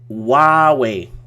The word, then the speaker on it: Huawei: Ray Palmer says, Mike, Huawei is pronounced Huawei.